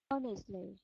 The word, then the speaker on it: honestly: Honestly. Honestly. Excellent. And again, just be very conscious of that H. You don't want to say honestly because the H is silent.